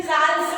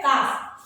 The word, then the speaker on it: calf: इसका pronunciation calf नहीं करेंगे. बहुत सारे स्टूडेंट्स calf बोलते हैं इसको. नो, ये जो आपका L है बीच में that is silent, तो बोलेंगे cow का young one होता है calf.